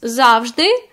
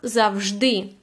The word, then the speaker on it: завжди: You can see that in this word, always, we have two stresses. What it means? It doesn't mean that the word has two stresses. It's called подвійний наголос, like double stress, which means that we could use any of these stresses. So they both are equally and allowed to use as завжди or завжди. Both options will be correct.